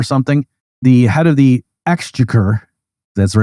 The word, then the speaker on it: exchequer: a war or something, the head of the exchequer, that's the right way to pronounce that, said, this is the end of Western civilization.